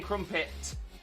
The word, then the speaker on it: crumpet: is is that we whilst we don't say the t it's almost like we say a silent t so crump it crump it i'm not saying crumpet crumpet yeah it kind